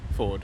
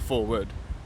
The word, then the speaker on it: Ford: ก ิ ด Ford It's more Ford Not forward okay Ford It's the